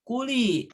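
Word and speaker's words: كُلِي: Ya, ada kata kuli. Kata kuli itu terakhirnya ya sukun dan huruf sebelum ya sukun lam, lamnya kasroh. Maka ini cocok dengan tanda kedua, summa kuli.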